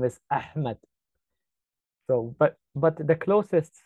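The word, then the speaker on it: أحمد: lot deeper like like when you cuff I'll pronounce it so when you say the name Ahmed is actually not Ahmed the real name is ahed so but but the closest sound to it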